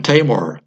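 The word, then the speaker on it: Tajmar: And I want to get into the work of Professor Martin Tamar. It's spelled T-A-J-M-A-R.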